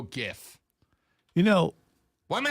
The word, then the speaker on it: GIF: would make sense but the g in graphic is a hard g ergo gif you know why am